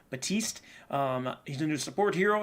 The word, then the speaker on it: Baptiste: I don't think you pronounce it P. Baptiste.